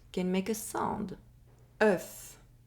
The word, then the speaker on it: œuf: One or more letters can make a sound: “Œuf” (Egg) Four letters Two sounds [ɶ] [f] “Œuf” (Egg) “Quand” (When)